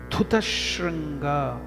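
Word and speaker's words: धूतशृङ्गा: So now again you can see the pronunciation difference. D-H-U, dhu. It is not du. Dhu. What is happening in this pronunciation? You are bringing out the lungs, air with more force. That's why it's called Mahaprana, dhu. Alpa prana is du, less force of the lungs.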